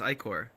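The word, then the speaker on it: ichor: I think I look at that and I'm like, Icar is right.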